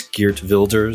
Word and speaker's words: Geert: we mention CER on and I'm told it's geers geers I have to I have to mispronounce the Dutch words if I mispronounce Iran